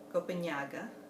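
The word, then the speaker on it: Copenhague: Copenhaga is how you say it in Portuguese. The NH in Portuguese is equivalent to the Ñ in Spanish.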